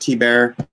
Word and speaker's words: Thibert: bear it is art Hebert th IB ERT is just pronounced T bear so I like to